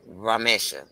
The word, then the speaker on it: Ramesha: It's Ramesha. Ramesha. Ramesha. Ramesha. The Ramesha. accent is on the I, but the I is a short vowel, not a long vowel.